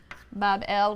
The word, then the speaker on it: Babylon: shrine or temple in babylon pronounced babel which simply means gateway